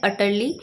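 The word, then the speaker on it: utterly: तो correct pronunciation होती है अटर्ली।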